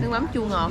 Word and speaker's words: nước mắm chua ngọt: Nước mắm chua ngọt. So you got it. You nailed it. So nước mắm chua ngọt.